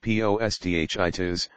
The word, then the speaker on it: posthitis: word balanos meaning acor the term post heitis pronounced PD itis also comes from the